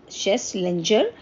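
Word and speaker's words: Schlesinger: Starting करी है, Arthur शेसलेंजर junior, इन्होंने एक ये टर्म जो है इंट्रोड्यूस करा है. थोड़ा इनका नाम अलग सा है, प्रोनाउंसिएशन में डिफ़र, बट स्पेलिंग थोड़ा सा ध्यान रखिएगा. शेसलेंजर, SCHLESSINGER.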